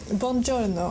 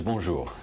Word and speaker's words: bonjour: to meet you or bonjo as you say here in France isn't it the B is in Italian in French in French it's bonjour okay sorry how important